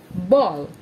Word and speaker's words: ball: It's not pronounced as bal or bail. It's pronounced as ball.